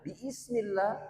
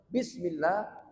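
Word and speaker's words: بسم الله: dihapus supaya ringan diucapkan kalau kita bacanya bismillah jadi kayak agak susah tapi langsung bismillah maka ini lebih mudah dibaca namanya Alif namanya atau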